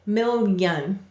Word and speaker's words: million: saying it's consonant sound so million is two syllables and in this word the yes sound is actually a consonant million do you hear it you can hear it even when you don't exaggerate it mil young excellent all right the next